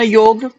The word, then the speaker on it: योग: America जैसे देश में जाकर के उसका नाम योगा हो गया, और आज भारतीय योगा कहने में कहीं ना कहीं अपने आप को गर्व महसूस करते हैं। जबकि यदि हम संस्कृति में देखें, संस्कृत के निष्ठ शब्दों में देखें और कहीं भी ढूंढे, तो योगा शब्द कहीं भी नहीं आता है।